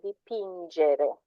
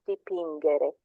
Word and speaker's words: dipingere: Anch'io vorrei imparare a dipingere. Dipingere with a G sound because there's no H and it's followed by an E, so it's a soft J, not dipingere.